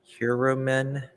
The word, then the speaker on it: Heuermann: What we know about this, how do we pronounce his last name? Heuermann. Okay, Heuermann.